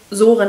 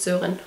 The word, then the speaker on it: Soren: ist der Film super wird im übrigen wirklich Soren ausgesprochen und nicht sen okay wieder was dazuelernt